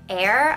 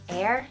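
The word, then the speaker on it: Heir: the metallic One and this is in air I think that's how they pronounce it h e i r air yeah I think it's air so this is a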